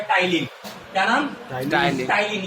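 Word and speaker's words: ptyalin: P normally आपका silent होता है और इसे हम लोग टिन टलीन लिखते हैं और टाइलीन पढ़ते हैं।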